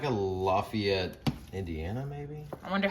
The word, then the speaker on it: Lafayette: there's there's like a lafayette indiana maybe i wonder how they say it if you're from indiana tell us how you say indiana's lafayette you could call that lafayette but in louisiana it's lafayette louisiana it's lafayette okay